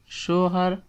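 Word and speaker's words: شوہر: Husband, shohar اور خاوند، یو کین use both. Show Hare, first سے شو اینڈ دین سے ہر، شو ہر مین ہسبینڈ،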